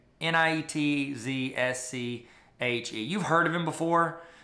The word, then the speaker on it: Nietzsche: Frederick niche niche a Nietzsche I know is Nietzsche that's how you say it I know how to